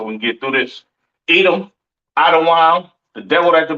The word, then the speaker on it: Edom: Edom, Idawam, the devil that the Bible speaks of, your oppressor, the so-called Caucasian man, woman, and child, pronounced Idawam.